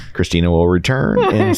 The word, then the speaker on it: Kristina: Actually, it's Kristina.